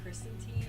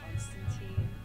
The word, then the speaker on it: Constantine: Chat is losing their minds because the name is Constantine, not Constantine.